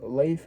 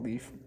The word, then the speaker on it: Leif: So he ends up going or Leif Ericson, how you pronounce I should say Leaf even though it's not Leaf.